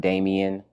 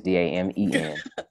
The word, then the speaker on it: Damen: My name is not Damien and it's not Damon. It's Damen.